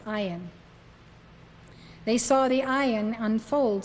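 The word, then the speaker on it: אַיִן: unfold that spelled a yn but it is pronounced I on they saw the ion unfold step by step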